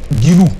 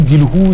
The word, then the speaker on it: Guilhou: Guilou s'écrit G-U-I-L-H-O-U. C'est aux téléspectateurs ou bien aux Français de nous dire comment ça se prononce, mais moi je considère que c'est Christophe Guilou.